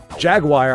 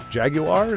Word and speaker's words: Jaguar: it's supposed to be, like Jaguar. Jaguar, I think, sounds really freaking cool, but I'm pretty sure the car company is a UK-based car company, and they pronounce it Jaguar.